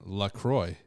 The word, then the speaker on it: LaCroix: Midwestern through and through down to its pronounce pronunciation Lacroix is how you pronounce it by the way